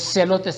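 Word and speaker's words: zelotes: Los celotes se escriben Z-E-L-O-T-E-S.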